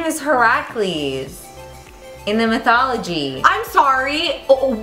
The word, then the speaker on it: Heracles: his name was herac you should have know Heracles yeah are you sure it's not just like said that way but it's spelled Hercules how how is her like you